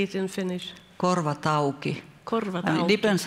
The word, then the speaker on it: Korvat auki: Korvat Auki.